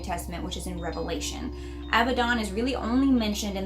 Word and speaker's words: Abaddon: Now some people say Abaddon, some people say Abaddon. I feel like it's more Abaddon because it's spelled with 2 D's, but whatever.